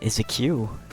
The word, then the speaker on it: queue: This next post is from Random Thoughts, and this user says the word Q is just the word, or the letter Q, followed by 4 silent letters, waiting in line.